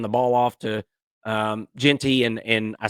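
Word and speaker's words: Jeanty: and they hand the ball off to um Genty and and I said Gentry and I'm sorry about that I meant Genty um thank you Uncle Lou for messing me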